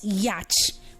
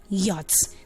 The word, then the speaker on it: yacht: They call it yacht, but that word is supposed to be called yacht because the A there is making the sound of R, not this time.